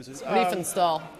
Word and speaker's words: Riefenstahl: And her name was Rennie, I can't pronounce the last name. Riefenstahl.